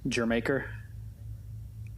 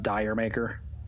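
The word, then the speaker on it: D'yer Mak'er: Like Led Zeppelin, Jermaker, or the way it's spelled out, Diremaker, as somebody might mistakenly pronounce.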